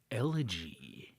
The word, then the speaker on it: Elegy: Twilight Zone episode 20 elegy yeah which I think is how that's pronounced yeah you are correct and if you're uh